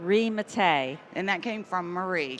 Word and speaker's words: Mattei: wrong, but I'm going to ask you to pronounce your name for me. It's Mattei.